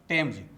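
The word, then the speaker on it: Thomas: पहला टीएच से था फॉर एग्जाम्पल यूथ, दूसरा टीएच से द फॉर एग्जाम्पल दिस, तीसरा टीएच से ट फॉर एग्जाम्पल टेम्स। तो दोस्तों, टीएच से ट उच्चारण वाले ज़्यादातर शब्दों का प्रयोग विदेशी नामों के लिए प्रयोग किया जाता है।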